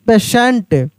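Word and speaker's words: patient: question P ए टी आई ई एन टी पेशेंट टी ए आर टी आई L partial क्या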